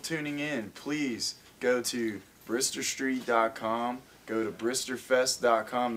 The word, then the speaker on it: Brister: Twitter is Brer Street that's spelled like Mister but with a br r b r i s t e r r space s t brist Street Productions or local